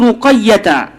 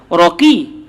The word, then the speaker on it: Ruqayyah: Ruqayyah huwa bi dhammir ra wa fathil qaf wa tasydidil ya. Kenapa sampai begitu sekali kau salah sikit apa salahnya? Ni sampai bacanya adalah dengan dibariskan huruf ra dibaca baris atas pada huruf qaf, ruqa. Jangan baca raqi, ruqa. Lepas tu ya tu disabdukan ruqayyah.